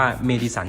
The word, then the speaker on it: Madison: มา รุ่น เดียว นะ ไม่ ดี สัน มัน อ่าน ว่า เมดิสัน จริง นะ เมดิสัน 150 เนี่ย ออก